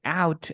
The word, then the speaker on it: out: the American Pie soundtrack the Canadian accent can be heard most easily in the following words we say an American say out about house another with o for